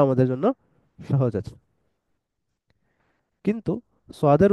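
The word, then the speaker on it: ص: সোয়াদের উচ্চারণটা একটু এই যে এখানের মধ্যে লেখা আছে দেখেন, এস এর পর ডাব্লিউ দিলে যেরকম হয় কিছুটা এরকম। সোয়াদ, সাদনা, সদনা, সোয়াদ, সোয়াদ, এরকম উচ্চারণ।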